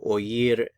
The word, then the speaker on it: oír: as a diphthong but since the I is accented we actually pronounce the O and the i in separate syllables so that's why you